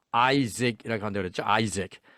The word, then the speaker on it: Isaac: 자, 발음 Isaac이라고 한다고 그랬죠. Isaac.